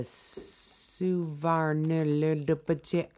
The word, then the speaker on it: Suvarnabhumi: So I'm not going to pronounce this right. It's an airport in Bangkok, Thailand. The Suvarnabhumi Airport.